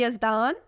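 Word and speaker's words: Yazdan: बरकातहू first name is यजदान यजदान नाम की spelling है वाई ए जड डी ए एन यजदान नाम के मानी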